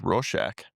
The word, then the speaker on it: Rorschach: I've never known how to pronounce that, by the way. I think it's Rorschach.